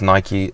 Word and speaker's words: Nike: Well, even something as small as Nike, you know, here is Nike, in America it's Nike.